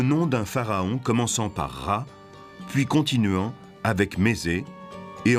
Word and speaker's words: Ra: En haut, c'est le disque du soleil, et Champollion sait qu'en copte, il se prononce Ra.